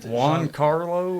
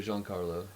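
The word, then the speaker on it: Giancarlo: Juan Carlo or Hypnos either Juan Carlo or Jean Carlo. I've heard people say both.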